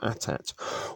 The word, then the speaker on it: AT-AT: their finest troops in eighty eighty or at-at walkers depending on how you like to pronounce that in to take out